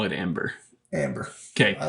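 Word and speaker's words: Æmber: yeah so I'm thinking this thing it says pronounced Amber we're in a Wikipedia article at least because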